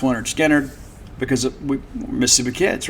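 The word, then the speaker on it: Lynyrd Skynyrd: Of course, that's from pronounced Leonard Skinner, because we're Mississippi kids, right?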